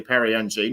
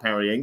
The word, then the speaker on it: Perry Ng: So it's actually Perry Ng, not Perrying.